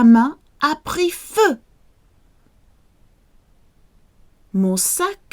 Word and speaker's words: feu: Feu. Attention. Feu. So often EU is pronounced that frowny sound. Feu, like euro, feu, un peu.